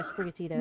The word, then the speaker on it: Sprigatito: Yeah, Sprigatito.